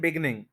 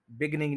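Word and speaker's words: beginning: फिर हम कहते हैं बिगनिंग, इन द बिगनिंग, बिगनिंग नहीं होता, बिगिनिंग होता है।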